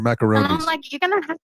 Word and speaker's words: macarons: in J chains because you guys keep on mispronouncing the word they're macarons you know every time